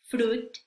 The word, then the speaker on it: fruit: Ya vamos a saber que en estas palabras la I no se pronuncia, vamos a pretender que no está, que no existe, la vamos a ignorar. Bien, y estas palabras son business, business, fruit, fruit, suit, suit, friends, friends.